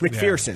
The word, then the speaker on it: McPherson: It's MC. It's spelled correctly. It's McPherson. Fear, son.